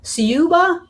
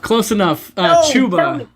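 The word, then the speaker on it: Ciuba: Siuba? Oh, close enough. Chuba. Chu. The CI makes the CH sound.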